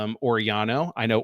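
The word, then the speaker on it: Orellano: So I'm going to go with Oriano because it sounds like he has tried intentionally to make his name more like regular Spanish rather than Argentinian Spanish.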